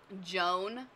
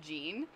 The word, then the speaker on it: Jean: but but for ease most people just say gene and that's perfectly fine so whatever yes yeah